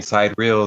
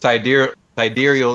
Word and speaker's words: sidereal: pronounced i know you've we've been saying sight real throughout the whole you know station but sidereal is uh more accurate i've heard because it deals with the stars that's right above your head and with the tropical